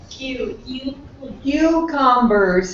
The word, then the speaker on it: cucumbers: Cucumbers has three syllables.